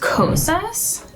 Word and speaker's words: Kosas: So first up, I am going to use, I believe it's pronounced Kosas.